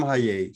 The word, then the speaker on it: Hajee: Well, I'm Hajee. So you pronounced it well, Viami.